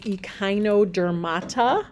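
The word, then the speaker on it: Echinodermata: this group as well the next group is EOD dermata that's how you say that word that name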